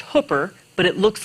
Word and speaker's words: Hooper: Hi, I'm Hooper.